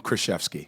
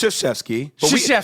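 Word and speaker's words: Krzyzewski: you just called him kfki well how do you say it it's sheski but you know what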